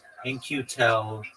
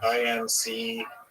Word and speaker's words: In-Q-Tel: In-Q-Tel companies. Just one moment, and I'll give you a breakdown. Like INCU. No. It's spelled very interestingly. It's IN-Q-Tel.